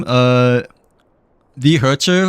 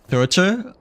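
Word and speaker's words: The Herta: What's the preferred way to say her name? The Herter or Thurter? Either one works.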